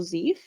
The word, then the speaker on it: Zephi: General Zeef? Yes. How do you spell that? Zephi. It's a silent I.